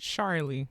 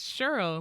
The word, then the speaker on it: Cheryl: no it's a c they want to pronounce it charlie like what oh what the hell oh what the hell they really do come up to you they do like i'll be like no it's cheryl like just take this